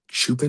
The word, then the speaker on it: Chupin: Chupin is how he pronounces his last name.